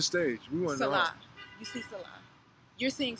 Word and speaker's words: Selah: I'm saying it wrong. Selah? Selah. I mean, people call me Selah.